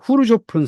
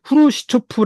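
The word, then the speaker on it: Хрущёв: 사람이 등장을 하게 됩니다 우리가 예전에는 후르시초프 아고 들었었지아요 그 소리에 키들 문자를 잘못 해석해 가지고 후루시 초프라 말로 일본 사람들이 그 하게 됐고 우리 자연스럽게 들어왔는데 정확한 발음은 후루 쇼프라 한답니다이 사람은 1953년부터 64년 최고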